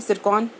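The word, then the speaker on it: Tsirkon: Arctic में क्या करा है, रशिया ने एक हाइपरसोनिक क्रूज मिसाइल को, जिसका नाम क्या है, सिरकॉन, टी यहाँ पे साइलेंट है, सिरकॉन का क्या करा है, उन्होंने सफलतापूर्वक परीक्षण करा है।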